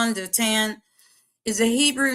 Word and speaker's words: Dothan: So Dothan, also spelled like Dothan, but it's Dotan is a Hebrew name meaning two wells or two cisterns.